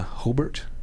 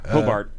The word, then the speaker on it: Hobart: in a hobart uh hobart hope to pronounce it hobart not hobart they'll get on you for that the art theater there